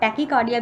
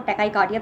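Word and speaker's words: tachycardia: CVS में टैकाइकार्डिया, उसने ब्रैडीकार्डिया कहा था, ये टैकाइकार्डिया, इसको टैकीकार्डिया भी आप कह सकते हो, मैं इसको टैकाइकार्डिया प्रोनाउंस करती हूँ, अपना अपना प्रोनंसिएशन है, जैसा भी आप चाहें प्रोनाउंस करिए।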